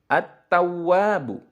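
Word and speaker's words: التواب: Contoh lagi adalah alif lam bertemu huruf ta. At-tawwabu.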